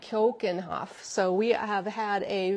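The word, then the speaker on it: Keukenhof: to pronounce it correctly kenoff kenoff it's not cooken Hof I know that it's like Cen Hoff so we have had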